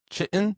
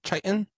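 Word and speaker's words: chitin: It's produced by this material called Chiten Chiten.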